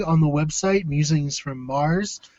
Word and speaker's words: Meagher: Now, please explain to everyone who sees your name spelled Meagher why you pronounce it Mars.